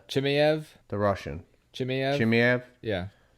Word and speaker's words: Chimaev: Chimaev? The Russian. Chimaev? Yeah. Chimaev.